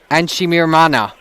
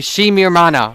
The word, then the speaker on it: Shimirmana: Elvis Enchimirmana. Or no, I'm sorry, Shimirmana. I talked with Coach Lee Pietra. There's no N in that pronunciation.